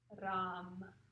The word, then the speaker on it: Ram: And our syllable is going to be Ram with a little rolled R.